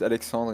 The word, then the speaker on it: Alexandre: We have here our guest Alexandre. I hope I did pronounce it correctly. Almost, but it's Alexandre in French. But... Alexandre, I see.